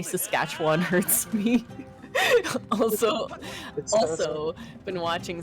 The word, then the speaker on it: Saskatchewan: It's Saskatchewan. No. The first syllable is wrong. You gotta say sus, like Saskatchewan, like sus, man. But it's an A. Sus.